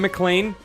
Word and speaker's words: McLean: Navarro Cote, Cam McLean, parentheses pronounced like Die Hard's last name, Maddie, Ethan Obama, Calf,